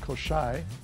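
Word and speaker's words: Kosrae: Koschei, correctly pronounced Koschei, is another beautiful island with lots of rain.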